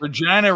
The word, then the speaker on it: Regina: Regina rhymes with vagina.